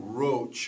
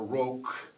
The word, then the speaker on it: Roche: of the rock or Castle roach or roog how the uh the the people at the time would pronounce it it was built